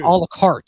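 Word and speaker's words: à la carte: Okay, first of all, and you're not pronouncing this correctly. A la carte.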